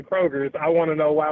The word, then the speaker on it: Kroger: And there is no S on the Kroger company.